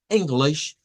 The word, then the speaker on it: English: ¿Dónde está la sílaba tónica, digamos, de o cuáles serían las sílabas en esta en esta palabra? Bueno, en primer lugar, ino esa es la primer sílaba y es la sílaba tónica. Y luego glith, miren, eso sería la segunda sílaba y diríamos English, English, English.